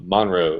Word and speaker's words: Monroe: out in Monroe uh Monroe is how the natives pronounce it uh Monroe North Carolina